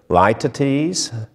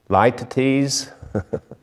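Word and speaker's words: litotes: identifying this as a light to tease light to tease i had to look up the pronunciation it's a figure of speech l-i-t-o-t-e-s it's a light at ease it's this figure of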